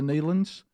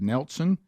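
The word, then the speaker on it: Nelons: have heard of the Neelands, and that's how you say it, Neelan. But I had not, and when I looked up and looked down, I thought the word said Nelson, and then I tried you weren't even close.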